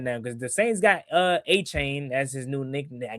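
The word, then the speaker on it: Etienne: Apparently, it's not ETN. Yeah, like nobody say how is that? It's weird. That? Yeah, he said that. Yeah, they was like, yeah. Apparently, we've been pronouncing it wrong. Like what? Yeah, he said his name is. Yeah, his name is Travis A-Chain apparently.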